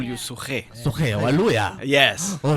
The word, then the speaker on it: Suquet: You know this name Suquet, it sounds like a Rift Valley name. I know. You know that? Pronounce it like Rift Valley. Suquet. Suquet.